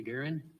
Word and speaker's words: Guerin: Guerin. Would you spell it?